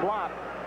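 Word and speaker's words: Uwe Blab: the big man juve his name is spelled uwe that's the first name then blab pronounced block third foul on him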